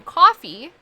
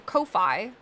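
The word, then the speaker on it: Ko-fi: K on tip on coffee um I or Kofi I think is how they actually want to pronounce it I just have to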